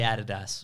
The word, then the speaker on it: Adidas: that's the gold standard in australia we say adidas we do because it's the correct way to say it it is isn't it